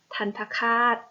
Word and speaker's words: ทัณฑฆาต: ดอก สี เหลือง อ่า ทัณฑฆาต อ่าน ว่า ทัณฑ ค่า ทัน ทะ คาด อ่าน ว่า ทั้ง คาด